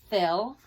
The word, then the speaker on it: Phil: the word fill it's the person's name Phil okay and it's spelled ph IL and the ph says but look what they're